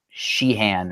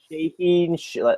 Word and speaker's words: Shaheen: Yeah, I keep almost calling him Sheehan, or I keep almost mispronouncing his last name. Shaheen.